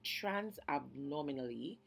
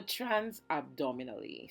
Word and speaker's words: transabdominally: and can be done transabdominally, which is through the abdominal wall. I did not pronounce that word properly. I said transabdominally. So transabdominally, so through the abdominal wall, or transvaginally, which is